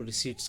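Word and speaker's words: receipt: रहा है उसे हम रिसीट्स कहते हैं। इसकी प्रोनाउंसिएशन रिसीट है, पी साइलेंट होता है।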